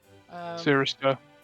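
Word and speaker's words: Circhester: Hello, if that was really Britain, that would be pronounce something like Sirister.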